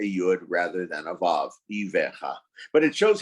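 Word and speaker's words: אויביך: Someone there is thinking that he made a mistake in the pronunciation of the word Ivecha. In fact, I didn't. In Jewish Hebrew, in the Jewish Bible, it reads as Oivecha.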